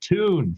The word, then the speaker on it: Thun: one time they're like it's pronounced tune she's german maria tune and then oh yeah